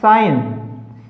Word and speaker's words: science: देखिए SCENE सीन, तो सी क्या है, ये साइलेंट है। MUSCLE muscle, SCIENCE साइंस, साइंस।